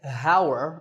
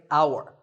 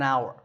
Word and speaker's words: hour: tour in number nine the spelling has an h at the start but that h is silent we don't say hower we say our the first sound is